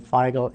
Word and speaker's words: Feigl: Birth at Birth my name was can you spell that for us uh that's and last name figel f as in Frank EI i g l